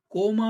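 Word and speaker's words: comma: ठीक है, कॉमा, कोमा भी नहीं होता ये, कामा भी नहीं होता ये, कॉमा है। ठीक है, कॉमा। ब्रिटिश इंग्लिश में इस तरह से इसको प्रोनाउंस करते हैं।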